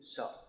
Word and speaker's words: chá: C H in English it can be ch. Like cheese. Here it's always sh. Right? My last name is. Not Spanish Sancho. Cuz C H is always sh.